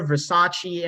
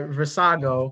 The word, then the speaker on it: Versago: ] mispronouncing it and when at one night i called her versace and i kind of was like no that isn't right but now right versago there we go you